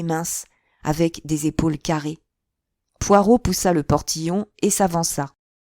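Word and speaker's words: Poirot: oh vous devez être monsieur Poiret poireau rectifia-t-il en accentuant sur la dernière syllabe Hercule poireau pour vous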